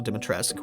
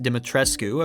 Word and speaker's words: Dimitrescu: While making your way through Castle Deatresque, which should really be pronounced Dimitrescu, according to Romanian Redditors, you have to find